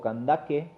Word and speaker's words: Candace: La reina madre, quien llevaba el título, acá nos dice Candace o Candaque, como realmente se pronunciaba, era el título dinástico